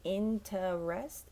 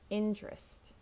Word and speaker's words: interest: American accents and point we usually don't say in to rest it's just trap interest interest do you have